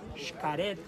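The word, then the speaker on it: Xcaret: Every time you see the letter X and that word belongs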